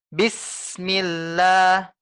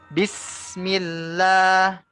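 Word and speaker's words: بسم الله: bismillah Ana ulang bismillah Kalau kita lambatkan bismillah bis spasi millah ya Ada ada sekitar jeda Bu barang sepersekian detik ya bismillah ya ini tidak dianjurkan Bu yang benar adalah kita tekan hingga tidak ada jeda antara bis dengan Mi yaitu dengan bismillah sin-nya kita tekan rasakan anginnya itu keluar bu rasakan udaranya keluar ya bis ditekan s-nya ya sinnya ditekan ya inilah yang disebut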